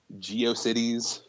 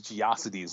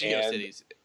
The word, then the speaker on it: GeoCities: Geio Cities. Angel. I heard I heard somebody pronounce that as Gioidities the other day.